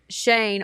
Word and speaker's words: Schoen: shirt that says Big Shane on it, it's Shane, but it's spelled Schoen. Yeah, elementary school was a nightmare. I've accepted that. It's really hard to look at the word and say Shane.